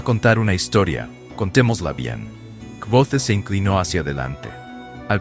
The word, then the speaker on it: Kvothe: El mío, me llamo Kvothe, que se pronuncia Quos.